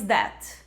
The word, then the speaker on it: debt: A gente tem ali a letra B, que simplesmente não é pronunciada.